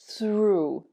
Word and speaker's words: through: Number 3, O-U-G-H, sounds like ooh. Through.